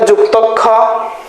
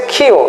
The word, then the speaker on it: ক্ষ: আচ্ছা আচ্ছা, এটাকে অনেকে বলে যুক্তক্ষ, হ্যাঁ, অনেকে বলে হচ্ছে কি ক্ষীয়। আসল উচ্চারণ হচ্ছে ক্ষীয়, ঠিক আছে?